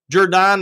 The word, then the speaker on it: Judon: Xander's Judon, not Judon.